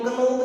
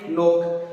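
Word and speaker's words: knock: अब देखो के एन, अब इन सब में के एन है, देखो के एन ओ सी के, इसको हम नोक नहीं पढ़ेंगे, इसको हम पढ़ेंगे नोक। क्या पढ़ेंगे? नोक।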